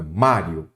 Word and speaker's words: Mário: Qual é a sílaba tônica? Mário é o má. Então, a sílaba tônica é a penúltima.